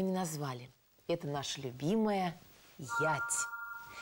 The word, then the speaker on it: ять: Это наша любимая «ять». Эта древняя славянская буква читается как «е».